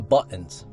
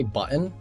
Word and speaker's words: button: So, what's up with the buttons? By the way, a lot of you guys get mad when I say button because there's obviously a T, but I don't pronounce the T because I don't want to say button.